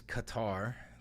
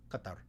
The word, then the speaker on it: Qatar: And this is if you take if you imagine saying like a K and then just walking the sound farther and farther and farther back in your throat. So you go back like C. That's cough.